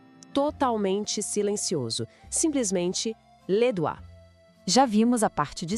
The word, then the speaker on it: les doigts: A pronúncia pode parecer estranha no começo, mas é les doigts. Aquele conjunto de letras OI quase sempre soa como o A em francês. E todo aquele GTS no final.